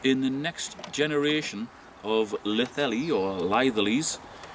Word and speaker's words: Litheli: Now this is the Litheli, as I pronounce it, or Litheli, which some other people pronounce it, Litheli Eclair 1000 battery pack.